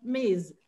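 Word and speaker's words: Ms: is miss i have i use miz miss miss m z m s we pronounce it as miz it means that we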